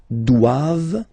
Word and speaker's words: doivent: Ils doivent. So same thing, classic ending for the plural form. ENT here. Okay, but then you don't pronounce it.